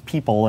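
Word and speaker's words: PPL: There's the Parallel Computing Platform that consists of the concurrency runtime, or concert, and the parallel patterns library, which I pronounce people and no one else seems to.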